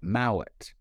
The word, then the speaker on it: Mowat: talking about the name mullet and how in Scotland they call it Mallet they pronounce it and he said oh